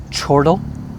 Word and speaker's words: chortle: anyway guys very simply chortle it sounds a little bit like turtle but um the pronunciation is or like and or so chortle please say with me chortle and uh i have